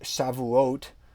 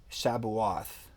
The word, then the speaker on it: Shavuot: so shivua is weak shavuot is weaks but um in the scriptures this is written as shabu-ath um you may not want to say shabawath it's not how we refer to the festival it's the festival of